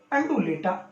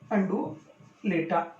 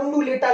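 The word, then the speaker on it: undulata: तो इसका वैज्ञानिक नाम है टिकोमेला अंडुलेटा, अंडुलेटा। थोड़ा प्रोनाउंसिएशन में भी समस्या रहती है कई बार, क्योंकि साइंस के शब्दों को जब देवनागरी भाषा में लिखा जाता है तो इसको कई बार उंडुलेटा लिख देते हैं।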